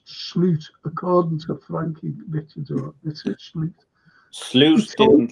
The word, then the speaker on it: Slot: he's got to play really yeah ni it's slot it's slot pronounced slute according to franking bites didn't like SL he